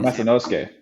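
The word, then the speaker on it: Masanosuke: Spencer Lee, Ono Masanusuke. So close. That's how you say it. How do you say it? Masanusuke.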